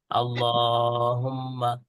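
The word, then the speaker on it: اللهم: আমুতু আমুতু আমুতু আহিয়া উচ্চারণটা খেয়াল করবেন অভিভাবকরা যে এখানে দুইটা ডট দেওয়া আছে তার মানে আল্লাহর পরে একটু টান দিতে হবে আল্লাহুম্মা বিসমিকা মুতু মু এর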